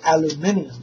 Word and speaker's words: aluminium: Or as the British say, aluminium foil. Either way, aluminum or aluminium.